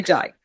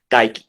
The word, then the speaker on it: Dyke: What I learned in elementary school was when two vowels go walking, the first one does the talking. No, in his name, the second one is talking. The first one is silent.